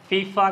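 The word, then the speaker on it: FIFA: Similarly F आई एफ ए करे न पढ़ंदासीं, हिन खे असां फीफा करे पढ़ंदासीं, त हे कंप्लीट वर्ड थी थो वञे।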